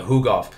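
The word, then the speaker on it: Tukhugov: is that how you say it yep so who golf yeah first first thing with him he hasn't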